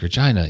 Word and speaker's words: Regina: When she starts there, she's like, Regina, the town that rhymes with fun.